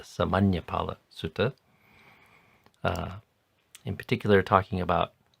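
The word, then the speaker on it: Samaññaphala Sutta: I think I also mispronounced that yesterday, calling it the Samanapala Sutta, but it's the Samanyapala Sutta.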